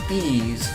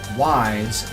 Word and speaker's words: Ys: Simply put, by saying it as Ys, like in please. Generally, it's not proper to pronounce it wise, as in why do I care?